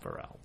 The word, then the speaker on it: Pharrell: he's not Because Pharrell. he's so happy. Yeah. He's Pharrell. Pharrell. Like for real, Pharrell. Only different.